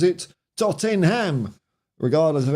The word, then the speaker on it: Tottenham: of shits you Saran my workmate pronounces it Tottenham regardless of how many times I correct him well you know he's in Fairly good company because Aussie IDE called it tottingham so you know if it's good enough for